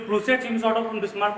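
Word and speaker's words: Otto von Bismarck: ध्यान रहे, जर्मनी में वी को फाव बोलते हैं. That's why it's auto fawn बिस्मार्क।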